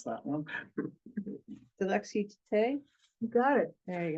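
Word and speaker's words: Dilexi te: Can you pronounce that one? Dilexite.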